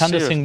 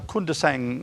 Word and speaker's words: Kundasang: Now we're going to move straight on to now this is Kundasang War Memorial? No, Kundasang War Memorial. I pronounced it wrong.